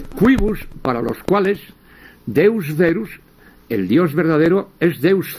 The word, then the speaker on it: verus: para los cuales Deus Verus, el dios verdadero, es Deus cerus, es el dios feroz, porque la v la pronuncian como f, ¿no?